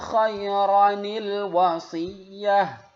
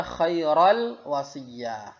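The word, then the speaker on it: خَيْرًا الْوَصِيَّةُ: In taraka khairanil wasiyah. Khairanil wasiyah. Jadi jangan dibaca khairal wasiyah. Tapi ro-nya ini, yang tanwin ini dijadikan satu harakat khaira, ya, kemudian ditambah nil wasiyah.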